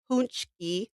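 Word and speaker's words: pączki: So this is these are and it's called pronounced punchki which that is not how that's spelled.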